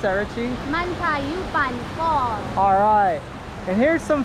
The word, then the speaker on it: Mantayupan: And how do you pronounce that, Richie? Mantayupan Falls.